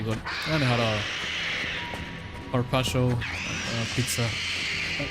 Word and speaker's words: carpaccio: And I had a carpaccio pizza. That's not how you pronounce it. They're gonna fucking kill me. Carpaccio. There you go. Probably still not perfect.